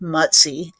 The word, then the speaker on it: Mutzy: And he did look like a little bear at the time, but the pronunciation is like in English it would be m u ts e y matzi.